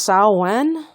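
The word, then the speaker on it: Samhain: announced the pagan religion that spelled sa m/h a I am I think it's pronounced Sal won or something but that's a pagan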